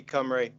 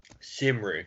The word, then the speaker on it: Cymru: to think about on how do you pronounce shimmery cymru see why my you see ym are you are coming yeah camera is that how you pronounce it that's wales yeah yeah